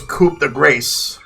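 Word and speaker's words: coup de grâce: times in my life Cuda Gra but some people pronounce as coupe the grace all right so after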